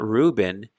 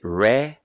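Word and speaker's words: ראובן: Reuven in Hebrew. So in Hebrew, there is no dagesh in the letter beit. So it's not Reuben, it's Reuven.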